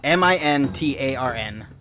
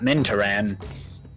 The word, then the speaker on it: Mintarn: Mintarn. T-A-R-N. Courtship. T-A-R-N, not Mintaran.